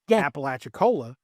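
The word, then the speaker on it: Apalachicola: There's a town in Florida that's called Appalachiccola, and it's pronounced Appalachiccola because that's how you pronounce Appalachiccola.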